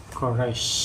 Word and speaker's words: Koresh: Karena orang kalau mengeja ini ya bagaimana? Koresh. Koresh. Tapi masih ada orang mengucapkan Koresi. koresi. Nah, salah, koresh. Koresh.